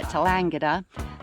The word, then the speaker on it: Tallangatta: Yeah, Tallangatta.